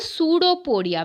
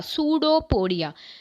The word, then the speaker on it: pseudopodia: Pseudo, P silent here, P is silent.